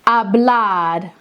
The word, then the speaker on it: hablar: Hablar. Perfect, Charlotte. That looks great. Remember, the H stays silent every time. Just hablar.